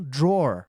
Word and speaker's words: draw: lembro, que a palavra gaveta rimou com a palavra porta. Em inglês, porta você já conhece que é door, então door rimou com draw.